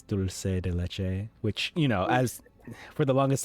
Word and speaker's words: dulce de leche: And the actual dessert is pronounced what? Dulce de leche? Yeah, it's dulce de leche, which, as for the longest time I thought it was pronounced dulce de leche, kind of like dulce.